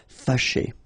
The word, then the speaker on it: fâché: Fâché. Okay, so remember that here, even if you've got this accent circonflexe on the top of A, well, technically, it doesn't really change the pronunciation. Fâché.